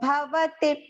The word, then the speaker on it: भवति: Sarvasya trividho bhavati priyaha. Bhavati, all are short pronunciation.